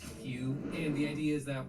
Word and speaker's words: HU: Within Ekankar, the term Hugh means God, and it's spelled H-U and is pronounced Hugh.